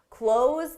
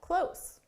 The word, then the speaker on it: close: Close the door so we can get close. The pronunciation difference, again, is a longer sound for the verb, close the door, and then a shorter sound for the adjective.